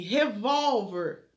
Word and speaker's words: revólver: Revólver, né? Revólver é acentuado porque é uma paroxítona terminada em R.